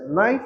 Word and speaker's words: knife: You're going to pronounce it as knife but without K.